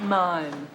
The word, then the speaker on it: mime: As a matter of fact, I'm on my way to my beginning meme class. Meme? Most people pronounce it mime.